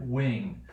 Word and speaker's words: wing: Wing. But notice what happens here, right, is that we don't even pronounce the g, right? We say wink, right? but we say wing, right?